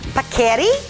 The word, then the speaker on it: Paccheri: Paccheri is how you say the name of the pasta with mushrooms and artichokes.